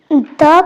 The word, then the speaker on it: the: ठीक है, अगर कोई कॉन्सोनेंट साउंड वाला वर्ड है तो उससे पहले हम THE को द पढ़ेंगे।